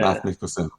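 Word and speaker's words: Mads Mikkelsen: Matt Mikkelsen.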